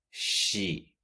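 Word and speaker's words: she: ella se dice sí si no es que es si con una pronunciación de y el final si te fijas en la fonética es el sonido de la s h y después la y como por ejemplo cuando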